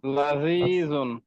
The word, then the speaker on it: لذيذ: মারিদুন সুস্বাদু, لذيذ لذيذ লাযীজুন জালকে যত সফট করা যায়, লাযীজুন। لذيذ লাযীজুন এরপরে মিষ্টি, حلو হুলউন আগে একটু বাতা সহ হুলউন, হুলউন মাশাআল্লাহ।